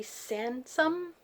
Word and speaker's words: Sansom: Sansom, I think it rhymes with ransom, and it's about a